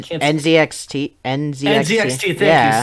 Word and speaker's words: NZXT: I also forgot to mention that I also have an Next case, which is spelled NX N fuck I N can't NZXT NZXT.